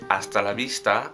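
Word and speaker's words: hasta la vista: Note that the H sound is silent.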